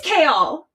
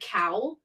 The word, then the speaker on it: Kale: It is Kale in the audio book. That's how she says it. Mhm. And I was like, I was right. I will say I said it wronger than that first. I think I said cow. Oh, you did. And then I started like halfway through. I switched it to closer to kale, but I still said it the other way.